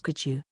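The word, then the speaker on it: 会長: Pronounced as Kachu, which means president.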